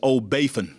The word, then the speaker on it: O'Bafin: And it's O'Bafin is the way you pronounce his last name.